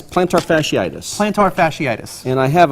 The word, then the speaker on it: plantar fasciitis: It's plantar fasciitis.